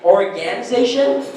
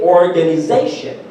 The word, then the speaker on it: organization: So with words ending in T-I-O-N, the stress is always on the syllable before it. So communication, there, what other words end in T-I-O-N? Organization. So see, the way we've been pronouncing it, organization, that's actually wrong.